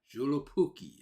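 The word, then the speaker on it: Joulupukki: juki that's how it's legendary Christmas figure yeah julip puki is how it's pronounced I had to play the thing just hear yeah to hear it's like how the heck is oh it's julu Pooky that sounds Hawaii sounds like a pudding or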